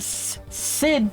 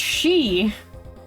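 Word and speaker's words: Sidhe: watch Star Wars and you would be wrong and you would probably say that a lot Sid City or or SID then that you'd still be wrong it's pronounced she both of them are pronounced she I kind of like the s-i-t-h because it has less letters s-i-d-h-e as she makes no sense except in Gaelic which honestly I hear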